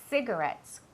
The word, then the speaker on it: cigarettes: La C y la I siempre tienen un sonido que es como si fuera una S, ¿vale? Cigarettes, como city, ¿vale?